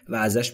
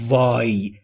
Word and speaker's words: why: این سوال رو عزیزان در مورد تلفظ وا هم باید دقت بفرمایید که اش ناخواناست و زمانی که میخواید دابلیو رو تلفظ بکنید در انگلیسی لب‌هاتون باید حالت بوسه باشه و هوا خارج میشه یعنی به این صورت وا وا دقت بکنید نگید وای وی نیست دبلیو و هر جا